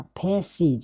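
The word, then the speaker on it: faces: इसीलिए यहाँ पे सी लिखा, फेसिज। यानी कि सिर्फ एस जुटने पर यहाँ पे समरसी का उच्चारण आ रहा है, मतलब फेसिज।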